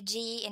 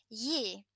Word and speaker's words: gi: If we have the G in a different word, for example, yi, to give, yi, we don't say gi, we say yi.